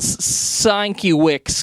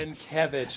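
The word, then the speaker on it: Sienkiewicz: who is this bill sanki Wix guy and of course that's not how you pronounce s kevich s s kevich but when I was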